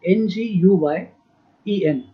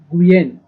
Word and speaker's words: Nguyen: Nguyen. I'm repeating. Nguyen. Nguyen. N is silent.